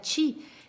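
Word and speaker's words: qi: Que El se chi, por escribe ejemplo, la energía del Q-I y se pronuncia chi.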